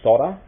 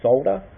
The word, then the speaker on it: solder: what you do is solder or I know a lot of Americans say solder we place folder I know the English say solder but yes so you